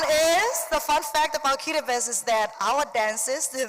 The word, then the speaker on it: Kiribati: 3 fun facts about Kiribati. The T-I, we pronounce it as is, and therefore it's not Kiribati, it's Kiribati.